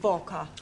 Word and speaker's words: Walker: Walker. Walker. What? W is pronounced W.